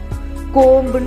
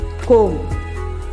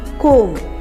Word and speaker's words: comb: COMB என்னன்னு சொல்லுவாங்க? தலைக்கு சீவிர சீப்பை கோம்புன்னு சொல்லுவாங்க நிறைய பேர். கோம். அதை வந்துட்டு பி சைலண்ட்டாக இருக்கணுங்க. கோம் அப்படி தான் சொல்லணும்.